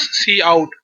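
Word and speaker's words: cout: called C out so C UT should be pronounced as C out that identifies monitor as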